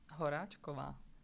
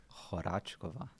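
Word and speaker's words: Horáčková: Horackova. Horackova.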